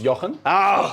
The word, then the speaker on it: Jochen: to do that so my name is pronounced Yen which almost no one gets right so it's completely